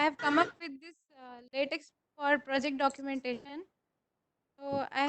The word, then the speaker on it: LaTeX: Latex is pronounced as latex. Okay, it's not latex. It is latex. At last, C will come.